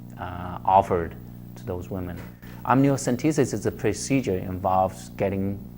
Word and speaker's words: amniocentesis: so Liza from Bloomfield asks what is amnios amniocentesis is that the correct pronunciation yes am what does it done and